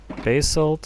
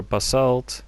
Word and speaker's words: basalt: i also got myself some basilt or basalt depends on how you pronounce it i've also mined a